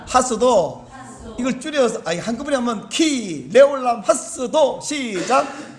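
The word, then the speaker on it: כי לעולם חסדו: 원 히브리어 발음은 뭐냐면, 왜냐하면 그 인자심이 영원하기 때문에 이런 말인데, 그 히브리어 발음은 키 레올람 하스도 이렇게 되어 있는데, 이게 우리나라 말하고 달리 말이 재밌어요. 키 레올람 하스도, 키 레올람 하스도, 이렇게 화답을 하는 거예요.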